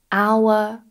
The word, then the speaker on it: hour: Now there are some exceptions where we do not pronounce the H, and many of these actually come from French. For example, hour, honor, honest, air, and